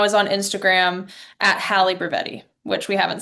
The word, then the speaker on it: Brevetti: So it's like Hallie, like from the Parent Trap, and then Brevetti, like Brevetti. Like if you said it like an Italian, that's how you spell it.